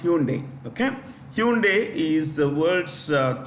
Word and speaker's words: Hyundai: I want to pick hyai company hunai it's pronounced Hyundai okay Hyundai is the world's third largest automobile